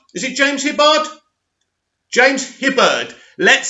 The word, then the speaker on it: Hibberd: is by the very very um awesome james hibbard is it james hibbard james hibberd let's say it properly anyway zack snyder is